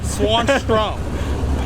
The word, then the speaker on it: Swanstrom: hard to pronounce yeah just how it spelled is how you say it swanstrom so yeah she made